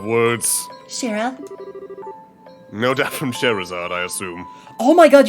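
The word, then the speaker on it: Scherazard: No doubt from Sherazade, I assume.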